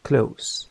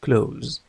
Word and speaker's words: close: لاحظ النطق close لا نقول close. إذا نطقتها ز فالكلمة تتحول إلى فعل يعني يغلق. أما close تعني مغلق أو وثيق.